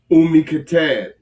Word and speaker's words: Kitab: How you pronounce that again? Kitab.